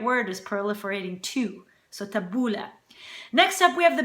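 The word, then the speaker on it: tabbouleh: which is tabula yeah tabula is how you pronounce it a lot of people for some reason pronounce it tabuli but it's not tabuli it's tabula tabula is that parsley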